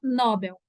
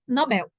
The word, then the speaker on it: Nobel: recebeu o prêmio Nobel pronúncia não é Nobel é Nobel tá José Saramago recebeu o